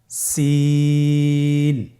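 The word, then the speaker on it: س: সিন হরফটি উচ্চারণ ক্ষেত্রে অবশ্যই তিন আলিফ টেনে পড়তে হবে। সিন হরফটি বারিক হরফ পাতলা করে উচ্চারণ করতে হবে। তাহলে আমার সাথে বলুন সিন। আবার বলুন সিন।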